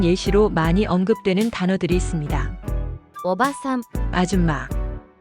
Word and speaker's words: おばさん: 오바산, 아줌마. 이 단어는 오바산이라고 짧게 발음합니다. 일반적인 친척 아주머니나 이웃 아주머니 등 비교적 젊거나 중년의 여성을 지칭할 때 쓰이는 표현입니다. 이때는 한 박자로 짧게 발음됩니다.